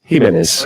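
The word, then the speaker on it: Giménez: hi Santiago could you give us the correct pronunciation of your surname so at least we know it for once in all H menz okay thank you to ask you this we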